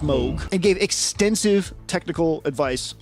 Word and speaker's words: Moog: with Mo uh the Moog the Moog it's pronounced Moog and gave extensive technical advice on what became